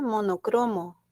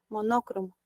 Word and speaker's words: monócromo: es una palabra compuesta, mono más cromo. Y el mono solito no lleva tilde, cromo solo tampoco, porque ambas son graves, pero al formarse la compuesta se convierte en esdrújula, monócromo.